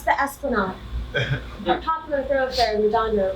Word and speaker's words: Esplanade: You're pronouncing that incorrectly. It's the Esplanade.